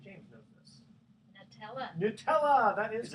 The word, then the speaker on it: Nutella: think Diana St James knows this tell us Nutella that is correct no I could say Nutella